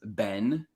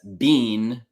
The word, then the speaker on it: been: English the pronunciation is Ben and it's similar to the name Benjamin and it's not the same as being which in my mind